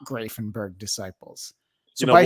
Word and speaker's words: Grafenberg: Joining me now is Bob Madsen of Grafenberg Disciples.